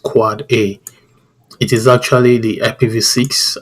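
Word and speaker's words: AAAA: so is a for A's so it is pronounced quad-a it is actually the ipv6 address record so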